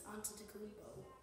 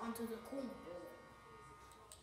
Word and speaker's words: Antetokounmpo: It's Antetokounmpo. It's not Antetokounmpo.